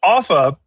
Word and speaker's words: Offa: Um but Offa and thank you for pronouncing it correctly. Sometimes, people say Ufa or Alpha or something, you know, something crazy.